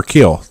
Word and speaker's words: Keel: a big band called kale or keel there you go you kill how you